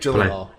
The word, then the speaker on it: Gyllenhaal: Jake Gyllenhaal.